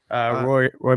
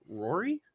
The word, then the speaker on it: Rory: Roy McIlroy. Rory? Rory McIlroy. It's Roy. There you go. It's No, just it's Roy. pronounced because he's Irish.